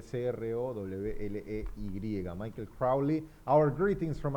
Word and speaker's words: Crowley: Bien, pronuncia bien el el apellido Michel Crowy. Michael Crowley. Eh, se escribe C R O W L E Y.